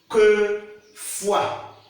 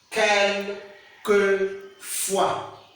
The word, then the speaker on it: quelquefois: And they said you should pronounce, how do you pronounce this word? Quelquefois. Quelquefois. Quelquefois.